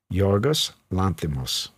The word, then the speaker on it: Yorgos Lanthimos: Will you pronounce the director's name? Yeah. Yorgos Lanthimos.